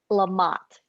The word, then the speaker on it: LaMotte: So I just need help pronouncing your. It's LaMotte.